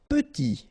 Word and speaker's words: petit: Petit. Okay, remember to pronounce this like a petit. Final T not pronounced.